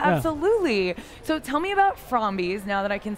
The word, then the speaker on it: Frombies: they create from bees i keep saying it wrong from these because it's friendly zombies so welcome andre adam